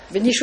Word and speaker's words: Bénichoux: Benichou avec un X.